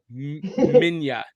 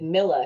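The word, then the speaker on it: Minilla: to be yeah it's spelled minila but it's pronounced Mina okay well so so I was going with Miller because it sounds like Godzilla but maybe yeah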